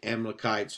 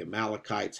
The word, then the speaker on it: Amalekites: and fights the the amalekites or the amalekites however you want to pronounce it it's pronounced both ways and um God brings